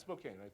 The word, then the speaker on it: Spokane: for them what can you practically do from Spokane Washington am i pronouncing right and that's Spokane okay I've learned I've learned I've learned right